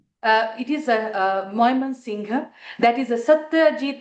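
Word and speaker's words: Mymensingh: How do you pronounce it again? Can you say that again? Uh it is Moyman Singha.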